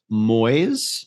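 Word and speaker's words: muis: similar but slightly different pronounced Moyes rhyming with boys is Dutch m-u-i-s Moyes uh Moyes sorry uh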